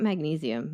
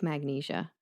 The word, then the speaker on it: magnesia: giving him milk of magnesia is that how you say it is this another type of writer thing back magnesium not magnesium milk of magnesia okay I think it's